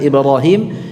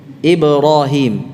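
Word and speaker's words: إبراهيم: ya Sufi ya Ibrohim Ibu masih ingat Mbaknya IB ya Bukan ibu-ibu ini tebal salah tipis ib ib ibroh yang begitu pengucapan kata Ibrahim dalam bahasa Arab bukan seperti kita Memanggil nama ibu Kim hydro ibroh Ibrahim Ibrahim tidak Ibrohim ib-pro hydro ya wamusa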